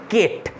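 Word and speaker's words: Kate: যার খ্রিস্টান নেম হচ্ছে কেট অনেকে কেটি উচ্চারণ করে আমি কেটি বলব একে ঠিক আছে তো মিস কেট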